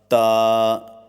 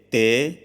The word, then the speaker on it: ت: Pronounce the mufradat letters with the Arabic accent according to the rules of tajweed and qiraat. For example, ba, ta, sa, and avoid Urdu pronunciation. For example, be, te, سے۔ Note: اصطلاح قرہ میں